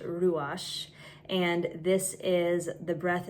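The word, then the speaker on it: רוח: We as human beings are actually created with in Hebrew it's pronounced ruash.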